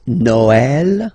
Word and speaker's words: Noël: The last one, tréma, well, basically it's quite rare, and the tricky thing is that in some cases you will have to pronounce it like eh, okay, like for instance Noël, okay, but then in